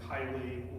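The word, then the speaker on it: Caeli: to Pentecost is the Regina Chay which is one of the reasons I wake up every morning and thank God that He gave us ecclesiastical pronunciation and not uh classical pronunciation in Latin because I would feel really silly if I had to sing Regina Kylie L Allelujah and then from Pentecost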